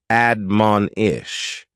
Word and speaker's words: admonish: is to admonish and admonish has three syllables with the stress on that second syllable admonish this is a verb